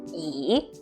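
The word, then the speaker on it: 已: read the text do means to read and E already so e do is already red all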